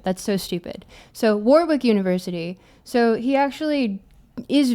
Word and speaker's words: Warwick: I pronounce it Warwick because I refuse to acknowledge that the UK cannot remember to pronounce the extra W in the word. That's so stupid. So Warwick University.